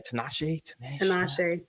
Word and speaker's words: Tinashe: Tinashe. How you say her name? Tinashe.